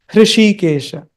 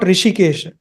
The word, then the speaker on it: Hrishikesha: Remember, it is not Rishikesha, it is Hrishikesha.